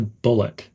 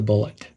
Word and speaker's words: bullet: The word the connects lightly to bullet. Bite the bullet. Bullet should be quick but clear.